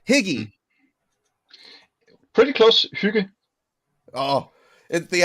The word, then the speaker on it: hygge: It says the word is spelled Hygge. I'm going to say higgy.